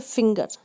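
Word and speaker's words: finger: जैसे फिंगर, FIN के बाद GE आया लेकिन हमने इसको ग पढ़ा है, फिंगर।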